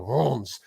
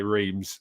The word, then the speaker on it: Reims: I keep on wanting to say Reims now because I think I saw Robin FTV say Reims, but it's pronounced Reims, something like that.